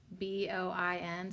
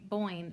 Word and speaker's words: Boin: her name neda and her last name's b-o-i-n so like yeah i guess like coin but with a b boing coin boing boing